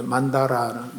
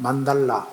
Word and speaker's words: 만달라: 그래서 아까 만다라하고 만트라하고 같은 이런 말씀하셨는데 예 만다라는 만달라 원래 만달라고 발음해야 됩니다.